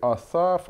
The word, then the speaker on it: Аса: пишеться це ім’я і асас або аса так як редактор огінковського перекладу дають в Старому Заповіті а саме останньому складі наголос цар відомий Ну і Почнемо